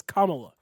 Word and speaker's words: Kamala: pandering he chose kamala kamala her name is kamala did that so that he could try to